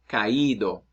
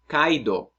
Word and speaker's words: caído: vowels in Spanish, well, if I want to give the emphasis on the weak vowels, I got to beef it up by giving an accent mark. So let's say the verb caer, caído.